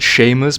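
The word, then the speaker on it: Seamus: just a moment ago camos Blake they probably want it to be pronounced Sheamus but but why would they if you want it to be Sheamus just add an age for i' always [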